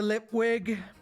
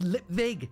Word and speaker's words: Lipwig: Lipwig. It's pronounced Lipvig, you moron, he moaned. It's a V, not a W.